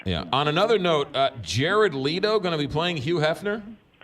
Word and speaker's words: Leto: to play this role Jared Leto or Leto as you pronounce it wrongly he's one of those